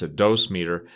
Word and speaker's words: dosimeter: materials usually have a dosimeter some people pronounce a dose meter it which is basically